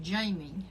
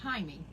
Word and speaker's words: Jaime: And he said, well, you people in the States pronounce it Jamie, but we pronounce it Jaime.